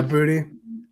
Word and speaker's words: Boutte: Yeah, Booty.